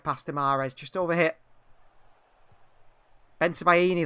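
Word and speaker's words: Bensebaini: tomorrow's just over here ben sabahini that's his name that's how you say it ben sabahini the fullback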